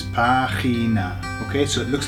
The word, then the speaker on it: página: Página. Página. Página. Notice where the accent is, it's on the A, okay? So it's página. All right, so how you